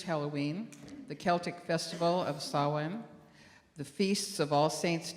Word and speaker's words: Samhain: In modern times, Samhain, a Gaelic word pronounced Samhain, is usually celebrated from October 31st to November